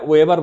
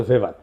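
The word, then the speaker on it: Weber: এটা ওয়েভার বলে অনেকে। এটা উচ্চারণ আসলে ভেভার।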